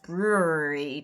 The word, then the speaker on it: brewery: Brewery Brewery Brewery Brewery it's three syllables Brew R I'm going to say it like that from now on like a